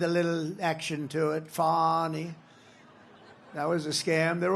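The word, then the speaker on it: Fani: But one after another, you had Fonnie, F A N I, which is usually pronounced Fanny. She added a little action to it. Fonnie.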